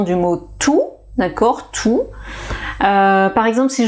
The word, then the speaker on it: tous: donc tout va bien tous les jours tout le monde tous les élus réfléchissent et alors le point commun bien sûr c'est que on ne prononce rien du tout vous avez vu que